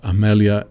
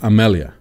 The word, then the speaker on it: Amelia: heart booyah right so her first name is pronounced emilia with an e but it's spelled with an a and her last name